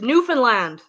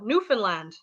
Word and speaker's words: Newfoundland: to say it properly it's newfoundland newfoundland i'm american i don't know yeah so so now you know so now you'll know newfoundland newfoundland yep you can land yeah somebody newfoundland newfoundland